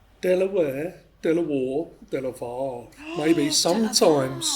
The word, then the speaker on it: De La Warr: The reason we say Delaware is because of the family name. The family pronounce it Delaware. And there's connections to the states to Delaware state. There's a connection there. So, but I think we're slowly moving back to Delawir, aren't we?